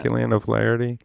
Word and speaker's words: Killian O'Flaherty: Killian O'Flaherty?